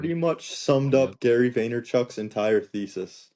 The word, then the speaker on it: Vaynerchuk: Gary Vanderchuk, I always say his name incorrectly. Vanderchuck. Yeah, Vaynerchuk?